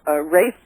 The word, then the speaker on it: Ralph: It's Rafe Fiennes, by the way. Rafe. I keep doing that every time. I know it's Rafe Fiennes, and I keep reading Ralph because it's on the paper. It says Ralph.